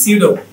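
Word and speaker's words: pseudo: তারপরে কি পি এস ই ইউ ডি ও, পিটা বাদ, তাহলে কি সিউডো, সিউডো।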